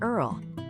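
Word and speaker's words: IRRRL: The most popular is the VA interest rate reduction refinance loan or IRL, often pronounced Earl.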